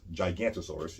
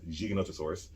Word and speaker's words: Giganotosaurus: south america we have giganotosaurus which people often mispronounce gigantosaurus is giganotosaurus and i said it because the guy in